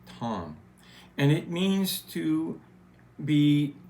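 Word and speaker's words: תם: The Hebrew word for that is spelled T-A-M, but it sounds more like Tom.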